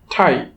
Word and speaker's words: tie: তো এখন উচ্চারণের নিয়ম অনুযায়ী যদি কোনো ওয়ার্ডের শেষে আই এবং ই একসাথে থাকে তখন সেই আই এবং ই কে আমরা একসাথে উচ্চারণ করব আই।